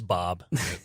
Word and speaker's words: B.o.B: I got my researcher over here doing some research on his name is Bob. It is pronounced Bob? Yeah.